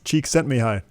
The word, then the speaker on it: Csikszentmihalyi: will make a fool of myself trying to pronounce his name, Mikhail Csikszentmihalyi. Cheek sent me high.